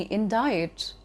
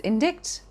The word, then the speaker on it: indict: pronounced as epitome or maybe in diet which is pronounced as indicts the second thing in